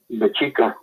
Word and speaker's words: Mexica: And the Spanish couldn't pronounce the X in our language, so they called it Mexico. And, Mexicanos. Right. Which, after 500 years, whatever, right? Right. But it was actually Mexica.